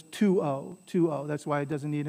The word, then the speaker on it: tuo: And this is two syllables, so you always stress the first one, so it's tuo.